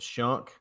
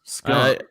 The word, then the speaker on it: Schunke: I'm calling it Shunk. Sure. I don't think it's skunk.